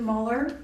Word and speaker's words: Muller: name I apologize lurin Muller very good okay I'm glad it it's pronounced the way it's spelled uh I'd also like